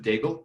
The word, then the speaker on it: Daigle: I've always pronounced it Daigle because my dad was an English teacher, so Okay, he translated the name for English speakers.